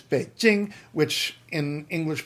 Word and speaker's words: Beijing: It's Beijing, which in English pronunciation would be Beijing. J in Chinese isn't exactly like English J, but English J. J is the closest sound we're going to have to it.